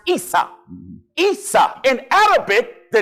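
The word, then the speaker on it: عيسى: In Arabic, Esau is pronounced Isa.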